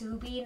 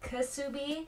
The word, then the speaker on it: Ksubi: Someone told me that the brand is pronounced Ksubi, not Ksubi.